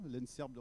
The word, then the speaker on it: ENSEIRB: Donc on ne change pas la prononciation, hein, l'ENSERB reste toujours l'ENSERB, mais sauf qu'il y a l'EI en plus qui permet de faire apparaître l'informatique, mais pas que.